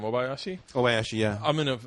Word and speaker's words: Obayashi: but how do you say your last name Obayashi Obayashi yeah I'm in a I'm in a